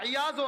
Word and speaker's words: আয়াস: ফুজাইল ইবনে আয়াস, অথবা আয়াজও আছে উচ্চারণটা।